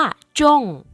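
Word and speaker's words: 中: ถูก ลอตเตอรี่ คำ ว่า จง จง เขียน เหมือน กับ คำ ว่า จง ที่ แปล ว่า ประเทศ จีน หรือ ว่า ตรง กลาง เลย นะ คะ แต่ ว่า ออก เสียง ไม่ เหมือน กัน ค่ะ คำ นี้ แปล ว่า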